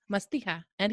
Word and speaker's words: Mastiha: how do you say it what's the right pronunciation Masti and hios mastia and hios yes uh in fact